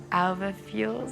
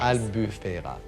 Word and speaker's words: Albufera: peas, and the sauce I've done is a albafuel sauce. I can't pronounce it well. It's with a chicken velouté base. Albufera.